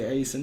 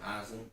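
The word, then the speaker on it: Aisin: I said Ison. And I say Asen. Asen. Yeah. I've heard it pronounced both ways. Well, how do you say it? Eisen.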